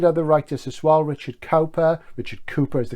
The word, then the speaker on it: Cowper: Richard Cowper is the correct pronunciation, I know, but I say Richard Cowper so we know who we're talking about.